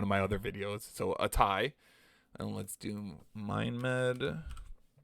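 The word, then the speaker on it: ATAI: my uh one of my other videos so a tie and let's do mind med and let's do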